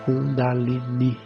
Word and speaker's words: kundalini: Então, no mulachakra, que é esse que está entre as genitais, é onde mora a kundalini, essa pronúncia correta, kundalini.